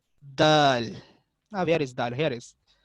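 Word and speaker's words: دال: Okay, the दाल इज अ नितकिया letter again like अ ता, pronounced from the tip of the tongue and the inner edge of the upper teeth।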